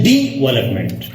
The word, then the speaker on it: development: Imran Khan, syllable is that part of the word which is pronounced with a single stroke of the tongue, T-O-N-G-E, tongue. So we will say development.